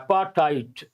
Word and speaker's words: apartheid: Back in 1991, when South Africa was readmitted to cricket following the withdrawal of apartheid. How do you pronounce this? Apartheid. T sound, not D sound.